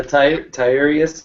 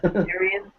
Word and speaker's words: Tyrion: The Tyrus, or however you pronounce that? Tyrion.